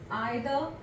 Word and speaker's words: either: For example we have each, आइदर, इसको कई लोग ईदर भी कह देते हैं विच इज करेक्ट, नाइदर या नीदर, both are correct pronunciations, right?